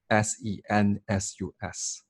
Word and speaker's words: Novosensus: It's spelled as NOVOSENSUS.